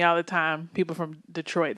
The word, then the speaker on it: Detroit: People from Detroit, they're like, it's Detroit. I'm like, Detroit. Accent on the Troit, right?